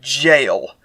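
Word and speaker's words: gaol: Many of the homeless prefer an overnight in the They pronounce this word jail, but okay, I'll remember that.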